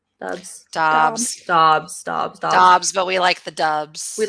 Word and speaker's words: Dobbs: Dobbs.